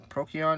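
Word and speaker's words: Procyon: i play is the teller knight uh prokion prokion is that's how you say it uh if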